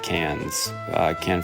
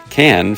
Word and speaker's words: Cannes: The film sparked standing ovations as well as walkouts at Cannes Film Festival. Excuse me for mispronouncing it there for a second. Cannes Film Festival.